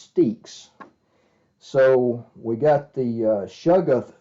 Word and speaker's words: Stexe: some more Stakes monsters and yes I'm now pronouncing his name correctly I was calling it Stacks but uh he told me that in a message that it's actually pronounced sticks so we got the sugath soap there's the